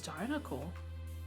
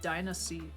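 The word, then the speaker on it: Diancie: Is it Dynasty? I thought it was always Dinocle. Oh. It's Dynasty. Or Diancy. Wow, I've been fucking that up my whole life.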